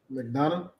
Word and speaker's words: McDonough: McDonough.